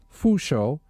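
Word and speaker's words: 佛手: The pronunciation of the term for Buddha's hand fo sho sounds like the words for blessings and longevity.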